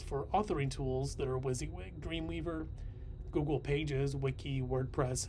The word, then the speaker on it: WYSIWYG: tools you see this w-i-s-i-w-y-g is pronounced as wysiwyg and that means what